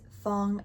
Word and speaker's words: Fong: You'll also see this Fong around town in Quong is a an MTR stop in an area on the red line in Hong Kong.